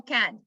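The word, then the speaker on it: Cannes: so though you're from how do you say it don't say the s don't say the yes i said it wrong i've been saying it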